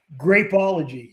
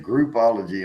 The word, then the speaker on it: Grapeology: station is grapeology what oh no you've been saying groupology and i every time you say that i think like an orgy c orgy think this you even said it wrong yeah it's hard that's